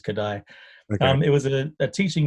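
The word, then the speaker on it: Kodály: right it's i think it said kadai i think it's hungarians uh k-o-d-a-l-y is how it's written but i think it's it's commonly referred to as kadai um it was a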